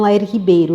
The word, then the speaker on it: Lair Ribeiro: Explico às pessoas que então sempre se lembrem de que me chamo Lair Ribeiro, Lair. Pronunciando-se Lair em inglês, é um lugar de animais selvagens. Rib é costela, bear é urso. Fica faltando só a letra O do final.